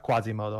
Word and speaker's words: Quasimodo: Keep in mind, Teo, in my country, we pronounce it like that, Quasimodo.